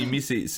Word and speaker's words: Emeii: C'est la prononciation en anglais, donc ça se dit super bien. Depuis switcher en français, là, les gens ont beaucoup de difficultés, mais ça reste Amy.